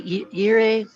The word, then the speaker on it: gire: Yes, in this case, in Spanish, every time we have G followed by I or E, the pronunciation is like the H in English.